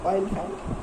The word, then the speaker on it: Oliphant: Basically, not elephant, Oliphant.